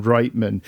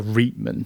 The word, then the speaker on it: Reitman: I've always said Reitman, but I could be wrong. Because there's the clothing chain in Canada is called Reitman's. But I've always thought it was Reitman was how you pronounce this.